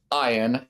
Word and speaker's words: Ian: No, Ian prefers Ian as the pronunciation of his name.